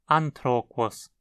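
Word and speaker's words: ἄνθρωπος: Usando esse silabário, o grego micênico escrevia uma palavra como atoroko, mas a real pronúncia era, muito provavelmente, anthropos, significando ser humano. Veja como uma consoante no final da sílaba não era escrita, como o N em an e o S em quos.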